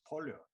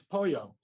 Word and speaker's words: pollo: rice and chicken it's pollya not you don't pronounce the double l you voice breaking bad